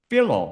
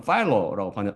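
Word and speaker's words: Philo: 이 비성경적인 사상은 유대 철학자였던 필로 또는 파일로라고 발음하는 미국 사람라는 사람의 영향을 받은 것입니다.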